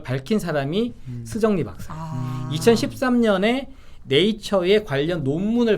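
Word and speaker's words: 石正丽: 이름이 스정리 박사예요. 네. 올해 55살인데 한국식 발음하면 석정리입니다.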